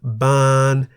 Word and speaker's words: บาน: middle-class consonant or ang, while ban, meaning to blossom, has one live syllable that begins with a middle class consonant bo by mai. They are therefore in the middle tone.